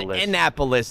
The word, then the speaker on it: Annapolis: ] i'm a bozo it's pronounced annapolis i didn't say indianapolis stupid i said i said annapolis the capital of maryland you stupid [ __